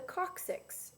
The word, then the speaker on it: coccyx: it's actually called the coccyx it's spelled weird c-o-c-c-y-x coccyx okay now these two bones